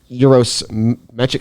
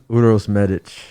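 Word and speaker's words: Uroš Medić: here coming up on march 6 against uh euros magic how do you say his name uros medic i just wanted to say that you'll see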